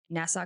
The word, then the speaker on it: Nassau: It was a horrific crime scene, to the point where one of the detectives said that in Nassau County, that's how you say it, There you go.